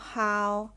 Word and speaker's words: 好: แล้ว ก็ O ค่ะ คือ เอา ฮาว เหมือน กัน แต่ วรรณยุกต์ ค่ะ ที่ แตก ต่าง นะ คะ วรรณยุกต์ จะ ออก เสียง เป็น เสียง ที่ 4 ค่ะ เดี๋ยว เรา ผ่าน